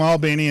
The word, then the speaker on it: Albany: of Georgia so he's from ala beanie bitty which is how you say it he's from Albany and he took me